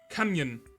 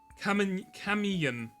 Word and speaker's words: Kamiyan: Kamyan. No. Kamiyan. It's like communion, right?